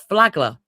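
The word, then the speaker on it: Flagler: Apparently, it's pronounced Flaggler. The Flaggler Museum.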